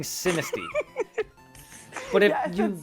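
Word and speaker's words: Sinistea: Is it Sinisty or Cis-T? I think I'm saying it wrong. No, it's Sinisty. Look, Wolf, it's a combination of Sinister and T. Sinisty.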